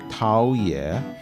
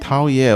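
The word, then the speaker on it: 陶冶: 陶冶 almost sounds like 讨厌. which has a very different meaning. Very different meaning and slightly different pronunciation.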